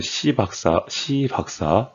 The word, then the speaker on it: 시박사: 예, 발음 주의해야 돼. 시박사.